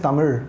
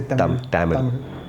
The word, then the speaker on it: Tamil: We don't even say Tamil. We say Tamil. So it's Tamil, right? So, Tamil. Yeah, Tamil.